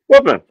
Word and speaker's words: Wolfman: so many different ways so how do you pronounce your last name correctly Wolfman all right that's what I said because you